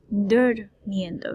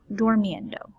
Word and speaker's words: durmiendo: Notice the emphasis on that U. It's durmiendo, not dormiendo. Okay, dormiendo is not a word for us. Okay, it will not be correct. We have to make sure that we pronounce that as a U.